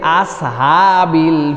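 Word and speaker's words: أصحاب: 4 নম্বরে আসহাব, আমরা অনেক সময় বলে ফেলি আসহাবিল ফিল, প্রথমটা সিন পড়েছি, পরেরটা নরমাল হা হলেই হলো, এরকম করে ছেড়ে দিয়েছি, তাহলে কিন্তু আমাদের উচ্চারণ ঠিক হবে না। আসহা, বলেন আস আস আস আসহাবিল, আস আস, এই সদ তারপরে হা, সদ হা, আসহাব।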